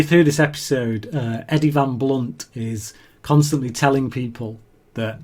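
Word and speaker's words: Van Blundht: this episode uh Eddie Van blunt is constantly telling people that it's got a h in his name the H is silent so as Eddie's dad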